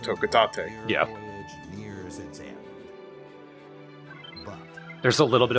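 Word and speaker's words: Hocotate: They're not from planet Hokotate, and I learned that yes, it is pronounced Hokotate.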